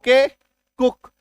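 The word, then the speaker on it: cook: L double O के लुक T double O के कुक S double O के हुक N double O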